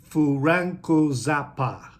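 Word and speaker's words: フランク: literal translation but again with the pronunciation it's furanku all right and so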